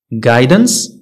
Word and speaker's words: guidance: اذا هنا نقولوا often often silent u u is not pronounced after g and before a vowel يعني u ما كتنطقش من بعد g وقبل من واحد الفاول بحال عندنا guess guidance guitar guess انت هادو